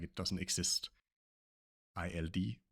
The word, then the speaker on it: ild: Example here we have ild, which means fire. You can hear here the D is not pronounced at all. It's like it doesn't exist. ILD, pronounced ild.